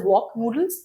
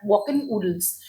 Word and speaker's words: WalkN'oodle: So walk-in noodles is basically it's not pronounced as walk noodles but walk-in oodles. So it's like walking in the oodles of joy.